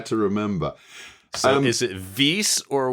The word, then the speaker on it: vis: I was taught in the 1980s a bit Weiss, because the Romans did not pronounce V with a V sound, with what we think of as a V sound. They pronounced it with a W sound.